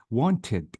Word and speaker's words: wanted: Wanted, I maintain or keep the E with D.